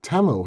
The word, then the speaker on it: Temu: Timu. No, Temu.